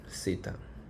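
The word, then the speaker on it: Θ: So this is actually theta. Yeah, this is theta, although it's the capital theta.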